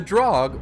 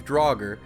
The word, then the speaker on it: Draugr: The drog or drogger have a few different pronunciations, but we're going to use drogger as that's the most commonly used pronunciation in the Skyrim community.